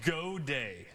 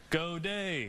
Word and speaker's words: Gaudet: Yes, so it's Gaudet. Okay. So I say it like you're cheering. Gaudet. I like So that. helps you remember. It's French. It's French pronunciation.